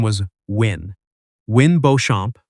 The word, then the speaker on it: Beauchamp: Wynn Beauchamp, pronounced like the French.